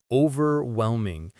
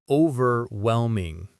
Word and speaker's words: overwhelming: It's too much, overwhelming, overwhelming. The stress is on that whelm syllable.